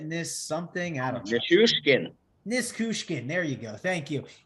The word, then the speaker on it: Nichushkin: Nichushkin.